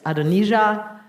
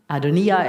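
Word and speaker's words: Adonijah: that David's two sons adonisia Adonia excuse me I should probably pronounce that more properly and then Absalom are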